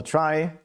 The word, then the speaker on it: trie: general is called a try. Uh pronounced is written as in retrieval but pronounced like in try.